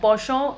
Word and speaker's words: penchant: Penchant is a French word which means a liking. It is pronounced as penchant. We write it as penchant.